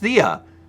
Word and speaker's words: Thea: be that person but Thea is short for so it's pronounced Thea I've learned so much today so it's Thea X like like running